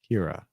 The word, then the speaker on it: Kira: Actually, the Kai is actually pronounced K, I guess, instead of it's pronounced like Oh, so it's like kiss. So it's Kiora. Kira.